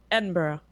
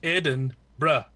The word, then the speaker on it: Edinburgh: I'm gonna say it Edinburgh yeah I is that about right as a foreigner howed wrong I don't understand like an extra syllable I know though it's like Eden bruh yeah Bruh Bruh okay see yeah so I